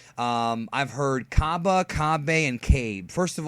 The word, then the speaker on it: Cabba: cab or kab but if you watch the series and listen to the characters the way they pronounce his name it is cabba either way is fine